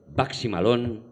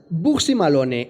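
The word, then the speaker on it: Bugsy Malone: Alan Parker deja el blanco España y hace maximalón Nieto de Al Capone no como que no O pronuncias buxi malone Nieto del Capone o máxima Lone Nieto del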